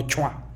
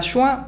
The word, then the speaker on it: schwa: Más bien schwa, no chua.